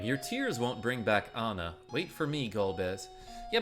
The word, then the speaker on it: Anna: Edward Ana Ana ahna how do you pronounce it you pronounce it Anna never I've ever asked